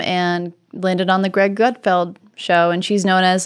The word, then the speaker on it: Gutfeld: You are usually on Gutfeld.